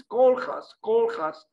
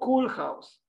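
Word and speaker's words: Koolhaas: correctly his name and she she said something like this call has not cool house but you can play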